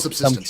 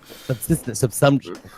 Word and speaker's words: subsumption: I always call it subsistence, and it's wrong. Subsumption.